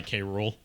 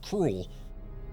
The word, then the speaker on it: K. Rool: Like, they tried to pronounce it as one word. Which, yeah, that is the pun of his name. K. Rool. Cruel. But they did K. Rool.